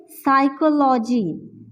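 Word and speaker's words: psychology: हमारे पास शब्द है साइकोलॉजी साइकोलॉजी यहां भी पी हमारे पास साइलेंट है तो ये तीनों शब्द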